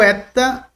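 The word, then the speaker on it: ἦτα: Eta, mas o som dele dentro de uma frase é benigno, é como se um E fechasse um pouco. Para diferenciar, claro, existem aqueles que diferenciam o eta de forma fechada e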